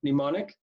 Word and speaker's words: mnemonic: It's an SAT word, mnemonic. Spelled with an M.